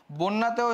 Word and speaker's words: বন্যা: একটা জ ফলা আছে জ ফলা থাকলে উচ্চারণটা কি হয়ে যাবে ওর মত হয়ে যাবে তাহলে বন্যাতে হবে বন্যা বন্যা তারপর দেখো সন্ধ্যা সেম